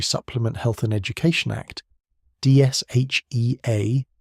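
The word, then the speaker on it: DSHEA: The Dietary Supplement Health and Education Act, Dsha, pronounced like the word SHA, had fundamentally restructured the regulatory relationship between the US government and the supplement industry.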